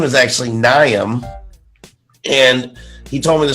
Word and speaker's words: Niamson: it tastes I'm looking for blood and that's neum some um you know what I said his name wrong I've learned this in the interview it's ngayon some no ruin okay his name is actually nyam and he told me the story watching the